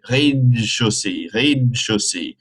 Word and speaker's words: rez-de-chaussée: You kind of eat the in de, and you get rez-de-chaussée. Le rez-de-chaussée.